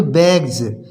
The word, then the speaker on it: bags: इसी प्रकार से बैग्स, BAGS, इसको बोलते हैं बैग्स, इसको पढ़ेंगे बैग्स। बैग्स मीन्स थैले।